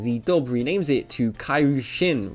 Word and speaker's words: Kairyu-Shin: The way this was handled is pretty interesting, as the dub renames it to Kairu Shin, which is how the monster's name is pronounced in Japanese.